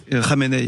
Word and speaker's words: Khamenei: Khamenei. Vous avez raison, c'est comme ça que ça se prononce.